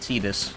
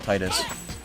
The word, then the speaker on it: Tidus: Yes, it's pronounced Tidus, not Titus.